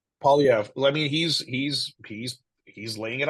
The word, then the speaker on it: Poilievre: Poilievre, I believe it's pronounced. Polyev, yeah, Polyev.